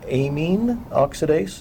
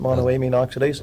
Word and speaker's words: monoamine oxidase: deactivated in the stomach because of something called a mean oxidase is a no it's pronounced monoamine oxidase Mao but the vine has an MAO inhibitor